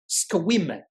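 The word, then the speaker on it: Sequim: And he just laughed and went, "Yeah, the e is silent." Went what? It's spelled it's spelled um or it's pronounced squim. Uh yeah, you're silent. And yeah, so I'll never forget that. Squim.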